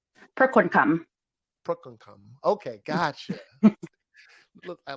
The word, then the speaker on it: Prakonekham: So is it pronounced Prakonekham? Prakonekham.